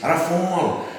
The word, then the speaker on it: Rafale: The Dassault Rafale, French pronunciation is Rafale, literally meaning gust of wind.